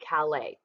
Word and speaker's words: Calais: But he assumed, and if you look at this map, that we were going to attack at Calais. It's a silent S there, because it is the shortest point.